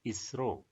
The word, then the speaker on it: ISRO: So ISRO have been taken and it is pronounced as a word ISRO.